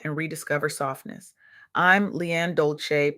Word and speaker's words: Dolcé: I'm Lianne Dolcé, pronounced dol-say, like sweet softness whispered in French.